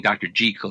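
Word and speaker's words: Jekyll: the Great Horror books Dr J and Mr Hyde I gu suppose I should be saying Dr gel and Mr Hyde by the way which is the proper pronunciation of the doctor's name uh you your respon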